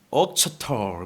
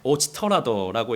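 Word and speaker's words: Auchterarder: 이걸 어떻게 발음하느냐에 따라서 조금 달라요. 옥처털 뭐 이렇게 이제 발음하는 데가 있고, 그런데 아무튼 이 책에서는, 이 온전한 그리스도에서는 오치터라더라고 이렇게 번역을 해놨습니다. 그래서 우리도 오치터라더라고 합시다.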